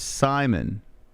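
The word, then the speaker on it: Saaiman: Here Comes Cameron Simon let me hear how they say his name John annik not as good as Mike Goldberg sorry sorry not sorry Simon all right so they just say it like Simon okay who's on the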